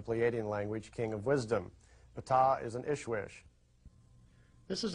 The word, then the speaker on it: Ptah: While he was there, he got to meet Ptah, that's pronounced Ptah, and he's the leader, or one of the leaders, of the Pleiadian race.